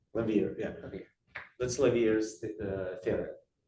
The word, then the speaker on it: Lawvere: How do you pronounce his name again? Oh, Lawvere. Lawvere, yeah.